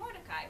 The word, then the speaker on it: Mordecai: All right, so Haman is boo, Mordecai, what a guy, because it rhymes with Mordecai, right?